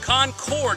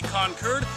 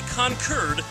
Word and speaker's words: Concord: sound natural to me concord is how i would generally pronounce it however in these parts you say concurd because the british pronounced it concorde and well we kicked